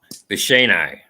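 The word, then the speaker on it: Bicheno: Pronounce. There you go. I knew someone. Bishino. Yeah, that's it. But in there a CH in there, like Bicino.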